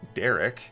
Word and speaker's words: Darrek: who it turns out is actually pronounced derek is a would-be american